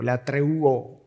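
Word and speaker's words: λατρεύω: en el original, ah, que es la treuo o la treuo, sería la pronunciación en español, donde viene la palabra latria y ahí viene la palabra idolatría.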